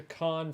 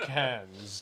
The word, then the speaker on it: Cannes: It's pronounced Yeah. Cannes, by the way, not Cannes.